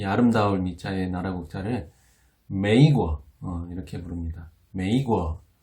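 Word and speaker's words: 美国: 근데 우리는 미국이라고 부르지만 중국 사람들은 이 아름다울 미자의 나라 국자를 메이거 이렇게 부릅니다. 메이거. 예. 아메리카 비슷하게 들리나요? 예. 매자가 비슷하게 들리죠. 그리고 뜻도 어느 정도 통하는 예. 국자, 나라 국자를 써서 메이거 이렇게 불렀습니다.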